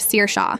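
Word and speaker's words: Saoirse: Sara who becomes source instead of Seir Sha but god forbid you say Mrs.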